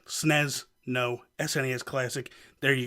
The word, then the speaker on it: SNES: with the SNES classic that is the proper way to say it snez no SNES classic there